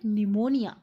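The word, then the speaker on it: pneumonia: शी हैड निमोनिया, जो Johnsy है उसे क्या हुआ था। शी was suffering from निमोनिया। निमोनिया के स्पेलिंग पे ध्यान देंगे, पी साइलेंट होता है निमोनिया में।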